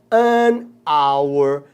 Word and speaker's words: hour: como é que é só se não é hour ou nesse Man you Wander uma hora um